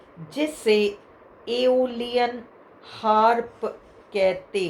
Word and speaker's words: Aeolian: है, संगीत से जुड़ा एक वाद्य है जिसे एओलियन हार्प कहते हैं। उसका स्पेलिंग है AEOLIAN, हार्प।